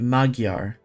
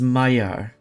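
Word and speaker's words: Magyar: always been pronouncing it magar but I think it's uh I just heard it earlier pronounced earlier today I think it's Mayar is is it's a much softer G than than I would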